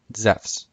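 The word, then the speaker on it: Ζεύς: accent is on soos zeus would have been pronounced the same way as it is in modern greek zephs in classical greek which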